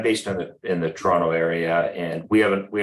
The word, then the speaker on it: Toronto: um honorary people from Toronto I know it's two syllables I have relatives up